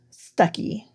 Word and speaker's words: Stucki: for black and white or stucky, I think is how you say that. It's spelled Stucki.